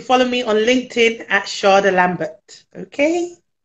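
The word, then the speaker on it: Shada Lambert: me on linkedin at sharda lambert okay no r yeah even though it's pronounced that way so s-h-a-d-a l-a-m-b-e-r-t charlie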